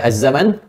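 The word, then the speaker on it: الزمان: kamus-kamus bahasa Arab ini ada dua bentuk tulisan ada azzaman ada azzaman begini ya azzaman pendek sama ya bisa ditulis dengan begini azzaman bisa ditulis dengan azzaman ini biasa Karena ini ejaan ya ejaan ini enggak usah disoal ini kenapa begini Kenapa begitu Ustaz Apa bedanya bedanya gampang yang satu baca panjang azzaman yang kedua pendek azzaman ini dialek saja ya sepertiikiumidin riwayat haf dari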